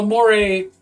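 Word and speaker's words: mores: universally taboo yeah more well Moray pronounced like it's Latin this is your second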